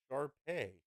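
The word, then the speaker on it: Shar Pei: no sharp face ship Sharpay that Shepherd mutt off the streets Sharpay rhymes with gay yes guys it's fine I'm over it hey here 50.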